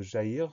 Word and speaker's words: jaillir: Alors attention au son Y de jaillir. On commence par le début du mot. Ja, J-A. Ensuite, on trouve le son Y, jaillir. Et ce son Y, il va s'écrire avec I, 2 L.